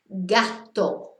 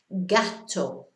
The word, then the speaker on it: gato: Then we've got the hard G sounds, G-A or G-O, gato, which is a cat, you probably know that, gato.